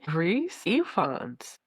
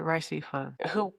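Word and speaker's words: Rhys Ifans: Reese Ifans. I said Rice Ifan.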